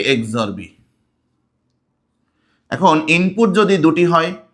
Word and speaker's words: XOR: তাহলে এটাকে আমি কিভাবে উচ্চারণ করব বা কিভাবে আমি পড়বো? পড়বো হচ্ছে এ এক্সরবি। ঠিক এভাবে এ এক্সরবি আই ক্যান সে এক্সরবি এক্সরবি এবার এটার সত্যক সারণী চল